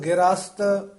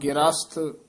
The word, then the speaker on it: ग्रस्त: ल जाई रहा रोग ग्रस्त चितारे नाव ग्रस्त उच्चारण करना है गरस नहीं कहना है ख मते का ठर